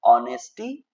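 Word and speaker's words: honesty: एच यहां पे silent रहता है। तो इसको बोलना है ऑनेस्टी इज the best policy.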